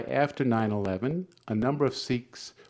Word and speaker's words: Sikhs: 9/11, a number of Sikhs, or Sikhs is the correct way of pronouncing this is, were killed, shot.